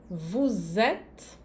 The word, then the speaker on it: vous êtes: Nous sommes, vous êtes, Aqui eu faço bem a liaison entre o S e o E, né? Vous êtes.